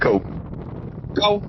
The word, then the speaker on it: Ko: you locate you said your name is KO yeah it's pronounced co co okay now where are